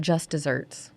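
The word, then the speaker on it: just deserts: got what she deserved it's pronounced like dessert like a sweet treat but it's spelled like deserts and that word was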